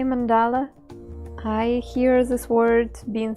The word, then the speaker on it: mandala: word in Russian uh saying mandala is not exactly comfortable for me so I chose to say it Mandela um it's just for people who who are concerned about the pronunciation so um that's probably